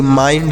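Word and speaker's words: mind: एफ आई एन डी एम आई एन डी माइंड एम आई एन डी माइंड हो हो गया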